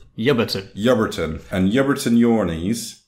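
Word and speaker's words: Ebrington: correctly you are however you wouldn't be able to tell that by reading it because it's a town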